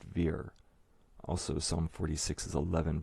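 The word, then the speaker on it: vier: below the word shake and german 4 is pronounced veer also psalm 46 is 11 verses which symbolizes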